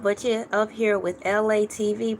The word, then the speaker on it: Elay: Y'all could have been anywhere else in the world, but you're up here with Elay TV, pronounced like LA, like the city.